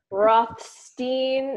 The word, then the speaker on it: Rothstein: It's just Rothstein. I mean, some people get the Stein, but they miss the sh.